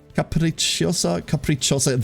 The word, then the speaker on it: capricciosa: Banana capricciosa. Capricciosa. The second I isn't pronounced.